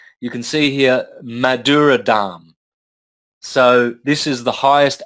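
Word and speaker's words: dhāma: you don't pronounce it you don't pronounce the last eye so you've got damn that is a dumb okay yep and then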